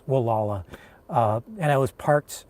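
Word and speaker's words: Gualala: one of the towns it's spelled it's spelled like it like Gul but it's Wala uh and I was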